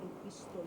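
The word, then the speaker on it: επιστολή: And of course, well known are also the letters that he sent to the church here, the epistles, epistole, which is actually how it's pronounced, modern Greek, as I say, the letters that I'm a barefoot person.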